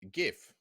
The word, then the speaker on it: GIF: But just for the GIF war, it's G and it's done as GIF, as in the same way you say gorge, like GORGE. Otherwise, it'd be GIF spelt with a J, but it's GIF.